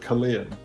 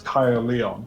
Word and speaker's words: Caerleon: so like, yeah, there's a town near me called Caerleon, which is, it's a Roman, it's built on a Roman fort, basically, an old Roman town.